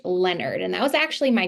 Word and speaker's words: Leonard: And it is pronounced Leonard.